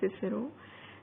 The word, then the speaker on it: Cicero: अब आपको मैं बता दूं कि जो दो words को mention किया गया है, Cicero and Cicero, they have the same spellings but different pronunciation because of modern and old.